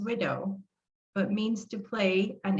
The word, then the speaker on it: Ouido: widow the word widow in my language is pronounced widow but means to play